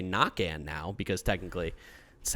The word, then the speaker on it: Naquin: that guy's absolutely hilarious and we got tyler naquin or as we should say nakan now because technically that's how it's actually pronounced but we got those guys coming at